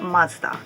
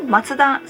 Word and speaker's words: Mazda: Founder's name and ayura Mazda for me matsuda sounds more familiar but in this case I think matsuda and Mazda they are both expected and correct number nine their heads